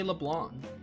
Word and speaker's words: Leblanc: the yongen Jaa Cafe leblan I've been always saying LeBlanc but it's actually leblan again like pronunciation overrated